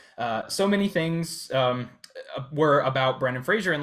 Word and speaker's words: Brendan Fraser: Brendan Fraser.